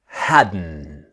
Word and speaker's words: hadn't: Remember the pronunciation is haden. The t sound haden just like wasn't where and hadn't and couldn't and shouldn't the strong n sound.